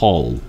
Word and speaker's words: whole: 발음은 똑같습니다. hole W가 소리 나지 않습니다.